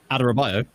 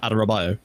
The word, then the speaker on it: Adarabioyo: Would you be able to give us a correct pronunciation as a Fulham fan? Adarabioyo. Tosin Adarabioyo.